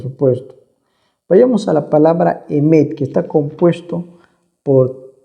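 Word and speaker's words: אמת: Claro que cuando se escribe ya en español aparece la E, ¿no? Emet, pero en realidad el hebreo solamente va con consonantes. Ya para distinguir la E ya entraría las vocales.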